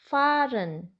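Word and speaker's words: fahren: spel spel useful tips H is silent after vels for example faren faren e n sounds as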